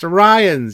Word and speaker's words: Orion: was great and yeah the reference to the orians and then it's even said in one episode It's pronounced to Ryan you idiots I thought it was great and